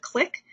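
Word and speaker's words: Qlik: They are dropping this and planning to replace it with Click, which is spelled Q-L-I-K.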